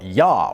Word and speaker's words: Ja: In Some Parts Of Northern Sweden, You Say Yes By Sucking Your Teeth In most parts of Sweden, people say yes with a simple “Ja” (pronounced “Yah”), which is just the Swedish word for yes.